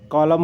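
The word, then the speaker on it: column: कॉलम हो गया और हाइम हो गया। इसके बाद चलते ओ भी साइलेंट नहीं होता।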